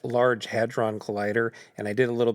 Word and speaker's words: Large Hadron Collider: large hydronic yeah, I don't know how to pronounce it. I know what you're saying. A thing that spins really fast to crush atoms. Yes. LHC, a collider. Yes. It's pronounced Large Hadron Collider, and I did a